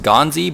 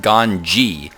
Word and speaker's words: GanZi: but it's actually pronounced Gan so I don't know just thought people might want to know that in case you cared to know that they actually don't have a z sound in Korean so uh yeah let's